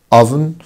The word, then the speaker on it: oven: countryside oven oven oven طبعا الاو هنا حبايبي بتنطق شكل الشورت يو oven pot pot flat flat flat.